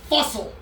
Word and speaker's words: Phustle: It's pronounced fussle.